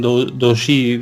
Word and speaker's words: doujinshi: Ellos le llaman doujinshi, no sé cómo se pronuncia.